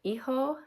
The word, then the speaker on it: hijo: That's h i j o because the h is silent and the j makes a h sound. So eho son, e-ha daughter.